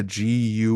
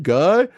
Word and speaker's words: Guy: people will meet them how do you pronounce name guy no it's G anyway yeah I've had